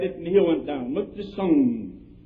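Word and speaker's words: Mao Tse-tung: Look to Sung. That's the way you pronounce that queer fellow's name.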